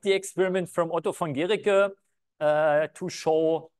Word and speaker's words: Guericke: And because, as far as I understood French, if you would just have the E, then it would be called Géric. And so he still wanted to be pronounced Guericke. And so they introduced this U so that it's still called still pronounced Guericke.